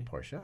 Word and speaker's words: Porsche: oh we're at Willow Springs thank you for pronouncing Porsche correctly Porsche of course and while I was there we